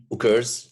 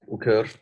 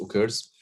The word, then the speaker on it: occurs: Occurs, yes, and this word is pronounced as occur, not occur. I know that some people mispronounce it. It's occurs.